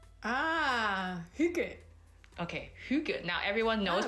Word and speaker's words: hygge: How do we actually pronounce the word Hygge? Hygge.